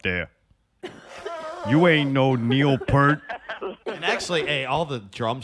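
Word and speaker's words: Peart: you ain't no Neil per actually hey all the drum snobs it's pronounced Pier I call them per it's per dude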